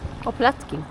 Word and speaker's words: oplatky: city, eating a little oplatky. Did I say it right? Oplatky. Oplatky, sorry.